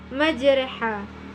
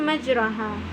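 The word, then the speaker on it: مجراها: call mursalun selanjutnya imalah cara membacanya adalah majreha bukan majroha karena imalah artinya memiringkan bunyi pa-pa kepada kasrah selanjutnya cara membaca bacaan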